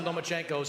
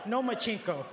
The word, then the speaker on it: Lomachenko: You are now the mandatory challenger for Vasily Lomachenko's 135-pound title. Do you believe at 20 years old, you're ready for that type of challenge? I think you said his name wrong. It's Lomachenko, because he doesn't want to fight me.